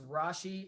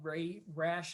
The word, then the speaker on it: Rasche: get that name well my last name is Rashi and it's spelled r-a-s-c-h-e and I have been called Ray rash on the radio for 20 years and I always knew